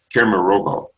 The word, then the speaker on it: Kemerovo: I was in a city called, now I may not pronounce this Russian city well, but it's in Siberia. It's called Kemerovo.